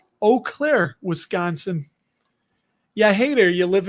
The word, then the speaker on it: Eau Claire: Eau Claire, Wisconsin.